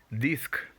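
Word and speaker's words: disque: Of course, the word is pronounced disc. Disc. Just like the English word dix, which is spelled, of course, with a K. That's exactly how you pronounce this.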